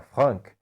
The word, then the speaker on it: Franck: Por ser francês, provavelmente a pronúncia correta do seu nome seja Frank, mas eu vou me sentir ridículo falando Frank o vídeo inteiro. Então vamos ficar apenas com o Frank mesmo.